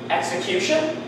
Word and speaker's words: execution: exceptions to the rule they start with ex followed by the vowel sound but they they do not they are not pronounced with g z they they're just x see execute we don't